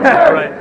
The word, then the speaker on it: Duerst: Daniel Durst is the worst. Daniel Durst is the worst. How do you say that? D-U-E-R-S-T. Remember, Durst is the worst.